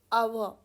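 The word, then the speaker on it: hour: आवर, 1 घंटा, 1 आवर, सो ए या एन. और आवर में चाहे देखने में एच है बट एच इज साइलेंट, तो आवर से पहले लगता है एन.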